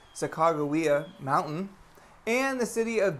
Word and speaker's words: Sacagawea: in oregon walawa lake sacagawea or if you want to say it correctly chicagoa mountain and the city